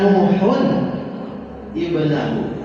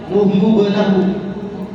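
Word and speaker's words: نوحٌ ابنه: Wanada Nuhun ibnahu. Tuh. Ya, ini kalau nggak hati-hati, itu pas pakai Mushaf Madinah, malah jadi dibaca apa? Nuhu ibnahu. Harusnya ingat rumusnya, ada tanwin ketemu hamzah.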